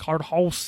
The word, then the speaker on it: Cardhaus: That is spelled Cardhaus. So House. Cardhouse.